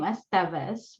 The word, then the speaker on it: Estevez: call me um we pronounce my last name estevez my pronouns are she